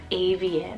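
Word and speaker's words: Avien: list here super sweet we have the name avian it's about a v i e n a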